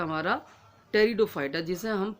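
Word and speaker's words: Pteridophyta: में भी आपको बताया लेकिन टी साइलेंट राहत है सॉरी पीस साइलेंट राहत है टी से इसे हम पढ़ने हैं यानी टेरिडोफाइटा लेकिन लिखा पी से जाता है निमोनिया की तरह अब ट्रेड तू फाइट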